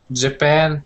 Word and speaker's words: Japan: Japan, Brazil. Yes. So they're the same way. Second syllable.